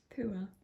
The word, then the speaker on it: Pua: So it's from the film Moana, and I can't pronounce the character, but I think it's Poa. Elizabeth's kind of... Poa? Elizabeth, you say it then. Pua. Pua.